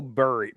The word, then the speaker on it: Burry: The tweet's in reference to Michael Burry.